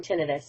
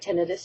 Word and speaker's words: tinnitus: I'm starting a new series called Quick Tip on Tinnitus, and today is tip number 1. First thing I want to point out is what tinnitus is. Pronounced tinnitus or tinnitus, both are acceptable.